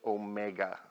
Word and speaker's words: omega: the Greek letter Omega this is not a w it's kind of a rounded W and that is pronounced Omega and I want you